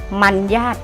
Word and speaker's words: มรรยาท: สังเกต ด้วย นะ คะ มรรยาท มัน ยาก อ่าน ว่า มัน ยาก นะ คะ ไม่ ใช่ มารยาท เพราะ รอ หัน รอ ตัว แรก ทำ หน้า ที่ เป็น ไม้ หัน อากาศ นี่ ไง ตัว อย่าง